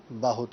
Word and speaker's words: بہت: جائے۔ بہت کہا گیا، لفظ ہے بہت، با کے اوپر زبر ہے، با کے اوپر بعض لوگ جلدی کی وجہ سے پیش پڑھ دیتے ہیں، تو بہت نہیں ہوتا بلکہ بہت ہوتا ہے، با کے اوپر زبر کے ساتھ۔ تو یہ چند غلطیاں